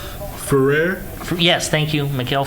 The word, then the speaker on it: Ferrer: Ferrer? Yes, thank you, Miguel Ferrer, who has been in so many things, was a truly brilliant actor.